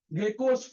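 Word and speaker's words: GECOS: इसको हम लोग बोलते हैं गेको field, गेको, गेकोस field, GECHOS, गेकोस, गेकोस।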